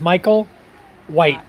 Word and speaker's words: Michael White: My name is Michael White, like the color.